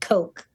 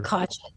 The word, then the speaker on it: Koch: Well, he pronounces it Coke. It's K O C H.